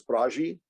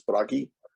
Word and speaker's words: Bragi: norse god bragi now you'll hear me sometimes refer to him as bharaji either is acceptable but the proper pronunciation is bragi he was the god